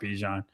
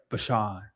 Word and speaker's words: Bijan: He goes, well, nobody actually says it right, so you're fine with Bijan. He goes, well, how do you say it? It's like Bashan.